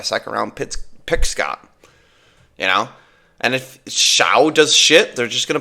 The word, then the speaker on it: Shough: Is it Shao? I thought it was Slough. It's Shough. So I don't think there's an L in there, buddy. Right, there's unless the L is silent.